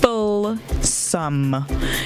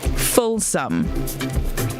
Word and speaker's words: fulsome: june all right now your word of the day is folsom full sum it's spelled f u l s o m e full sum all right fulsome can